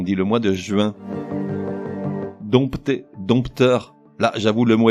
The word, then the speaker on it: dompter: Dompter, dompteur. Là, j'avoue, le mot est piégeux puisqu'il s'écrit avec un P devant le T.